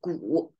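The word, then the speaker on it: 古: So that's ancient, pronounced the whole thing, pronounced as gu.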